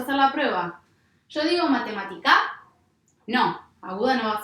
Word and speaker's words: matemática: Yo digo matemática, no, aguda no va a ser. Digo matemática, no, grave tampoco va a ser. Digo matemática, sí, digo matemática.